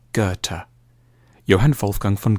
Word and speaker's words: Goethe: supposed to say it a safe bet is to start with a hard G on ger and end with a Turk goethe johann wolfgang von goethe has often been seen